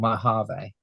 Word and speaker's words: Mojave: But it's got an album called Mojave, like the desert, Mojave.